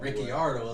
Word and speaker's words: Ricciardo: I mean, same thing with Ricciardo. Ricardo, my boy. Ricciardo is Yeah. the way it's supposed to be pronounced.